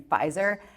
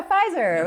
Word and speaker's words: Pfizer: pronounced my last name the p is silent like in Pfizer and for most of